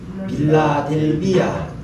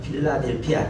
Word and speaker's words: 필라델피아: 빌라델비아. 빌라델비아. 예. 정확하게 발음하면은 필라델피아입니다. 필라델피아.